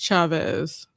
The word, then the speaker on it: Chavez: But yeah, as soon as you said Jasmine Chie, I think it's it's pronounced Chavez. Chavez. Okay. Thank you so much for for that. But it looks like cheese.